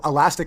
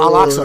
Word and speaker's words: Al-Aqsa: And this Elastic Mosque in Jerusalem, is that how do you pronounce it? Elastic Mosque. Oh, Al-Aqsa.